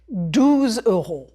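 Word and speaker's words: douze euros: Prononcez 12 euros.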